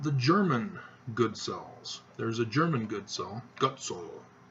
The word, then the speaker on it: Goodsell: So, yes, the Goodsell, as my dad wants it pronounced now. I don't really care what he says. It can be Goodsell or Gutsell or Godsell. Doesn't matter. Most people make the mistake